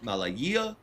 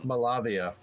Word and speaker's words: Malavia: Nit Malaya. Malaya. I can't remember how to pronounce the last name. I'm sorry, but that's who did the cover. Um, Malavia. That's a V, not a Y.